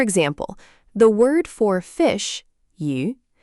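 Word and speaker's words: 鱼: For example, the word for fish, yu, sounds like the word for surplus or abundance.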